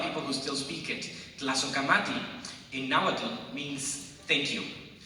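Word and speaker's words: Tlazohcamati: But Tlazocamati, that's the title of the piece. It's hard to pronounce because it's not Spanish. It is Nahuatl.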